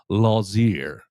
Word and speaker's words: Lotzeir: The T is silent on the uh pronunciation guide.